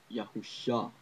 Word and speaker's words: Yahusha: is Messiah in English, Yahusha, which I believe is the proper ancient pronunciation. Yud, He, Vav, Shin, Ayin. Ayin is a letter not familiar to modern Hebrew or to English, but it's preserved in Arabic. So Yahusha. And the extra Uwa that's